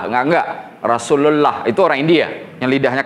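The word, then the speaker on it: رسول الله: antara ucapan dengan tulisan kecuali dia dibaca Apabila ada huruf sebelumnya kasrah Billah Nah itu baru dibaca lah Tapi kalau pakai damah sebelumnya atau fathah sebelumnya pasti dibacanya Allah i kan contoh ee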